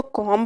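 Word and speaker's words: comb: है कॉम your hair अब यहां पर कॉम नहीं पढ़ना इसको कॉम पढ़ना है बी एंड पे साइलेंट है कॉम योर हेयर यानी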